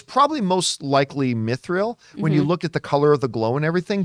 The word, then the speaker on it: mithril: it's either they've just now discovered i always mispronounce it uh methyndral oh mythical myth it that they just now discovered mithril that that's they've now discovered this this metal